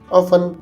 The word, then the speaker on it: often: अक्सर की English ऑफन होती है और ऑफन में टी साकन होता है, यानी टी को साइलेंट रखेंगे, इसे ऑफन पढ़ेंगे।